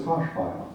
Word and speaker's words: Hirschberger: For example, the name originally Hirschberger is pronounced in Pennsylvania Dutch as Haschbeil.